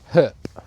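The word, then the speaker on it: Höfn: We stayed in Herp. It's spelled Hen, but it was a really sweet little fishing village.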